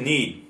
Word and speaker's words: knead: To knead. And the pronunciation sounds very much like the word knee.So, the pronunciation is very similar, knead, to knead bread.